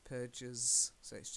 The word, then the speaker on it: purges: potassium potassium plus Burges normally with the GES ending you will pronounce the e like oranges rages purges yes it's a it's a